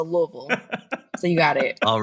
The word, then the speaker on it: Louisville: and I was told you have to say it like you have marbles in your mouth so Louisville so you got it